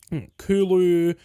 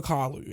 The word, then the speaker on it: Carlu: And like, people call me every other fucking name under the sun but my name. Kulu, Kalu, Carlos, Carlo, fucking Malu, fucking everything. Except for Carlu.